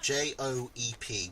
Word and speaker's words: Joep: Yoop that rhymes with soup. Joep.